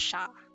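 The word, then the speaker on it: siya: she or they singular that's going to be sha it looks like but it's pronounced sha so for all the singular subject pronouns you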